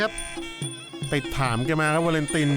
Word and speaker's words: Valentin: ถาม แก มา ครับ วาเลนติน เจ้า ตัว บอก ว่า ถ้า อ่าน แบบ ฝรั่งเศส นี่ ต้อง อ่าน ว่า วาลอง ติน นะ ครับ ชื่อ แก พักชัย ตั้ง